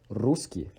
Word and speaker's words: русский: So by the end of this word, E is repeated twice. We have a long E, which is E, and a short E with another hat on the top called E kratkai.